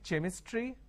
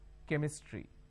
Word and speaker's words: chemistry: Can I say chemistry? No. The pronunciation is chemistry.